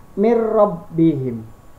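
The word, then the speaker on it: مِنْ رَبِّهِمْ: Contohnya adalah dalam kalimatnya adalah min rabbihim, dibacanya mir rabbihim, R-nya cuma 2.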